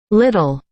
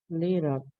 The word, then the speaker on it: little: Little. Yeah. Little. Como con D, ¿verdad? Es como con D, correcto. Esta doble aquí en este caso es como una D.